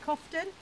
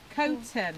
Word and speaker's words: Coughton: how to pronounce that I've always called it coffin or Calton but it's actually cone turn coating coating caught and